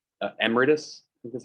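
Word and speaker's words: emeritus: um there they would be called like uh emiratus which is how you pronounce it um not good advisors they're they're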